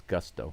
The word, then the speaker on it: Gusto: But based on what I just researched online, the Astros announcers are correct. It's Gusto.